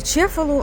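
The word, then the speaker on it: Cefalù: Короче, от містечко, як я вже сказала, називається Чефалу. Англійською мовою воно читається кефалу. Е, і пишеться воно через букву С.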